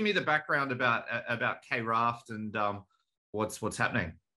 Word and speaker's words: KRaft: the pronunciation here is is it K raft is it craft uh how do you what what do you call it I call it craft but um or actually no maybe I do call it Kraft maybe I just switched